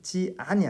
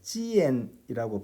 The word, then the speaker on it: 见: 见 할 때 지안이 아니라 지엔이라고 발음한다는 것에 유의해 주시기 바랍니다. 그다음 지엔 할 때는 지라는 소리에 좀 유의하셔야겠어요. 그냥 젠이라고 발음하지 않고 지엔, 그러니까 그 발음에 지 소리가 똑똑히 들리게 하는 것이 포인트입니다. 그냥 짜이 젠 하시면 안 돼요.